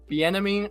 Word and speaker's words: Bieniemy: Is Chiefs offensive coordinator Eric Bieniemy? I think is how it's pronounced. That's exactly how you pronounce it.